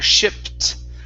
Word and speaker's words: shipped: shipped back back okay give me a t there shipped shipped back okay all right pretty good